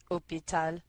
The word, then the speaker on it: hôpital: hôpital est c c hôpital hôpital est masculin mais le H n'est pas prononcé alors la forme spéciale